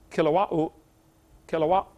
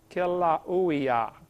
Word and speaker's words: Kilauea: Basalt from Mount Kilauea, how do you say that? They pronounce every vowel over there in Hawaii. Kilauea, Kilauea-iki, something like that.